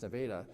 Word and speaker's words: Nevada: After graduating, she will continue her education and running her running career at Kotti College in Nevada, and yes, it's pronounced Nevada, Missouri.